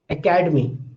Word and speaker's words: academy: I say academy. Again, I say the word academy. Now, if I ask you that which syllable is getting prominence, you will say academy. Academy. Is you hear this ka more loudly than the other syllables that are there in this word academy.